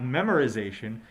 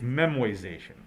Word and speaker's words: memoization: did pronounce it correctly it is not memorization it's memoization so one of the